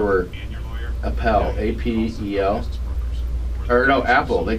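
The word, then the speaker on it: Apel: and his brother were appalled a-p-e-l or no apple they pronounced apple and then his second wife said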